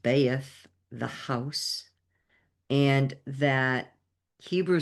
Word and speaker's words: Beth: The esoteric qualities are Hebrew attribution, Beth, pronounced Beaeth, the house.